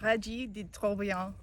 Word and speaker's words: Trobriand: French interpretation in the Wheatfield today, I say Regis de Trobriand, but Elaine says it a little bit differently. Elaine, how do you say it? Regis de Trobriand.